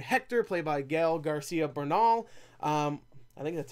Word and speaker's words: Bernal: Bernal, yeah, okay, I nailed it.